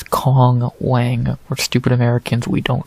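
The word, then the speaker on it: Wang Cong: fight between Kong Wang I'm not saying Wong Tong or whatever the it how you say it there's no T it's Kong Wang we're stupid Americans we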